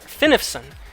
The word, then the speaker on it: Finifson: It's pronounced Fine-F-Sun. Fine-F-Sun. Fine-F-Sun. Fine-F-Sun. Finifson. Finifson. Finifson.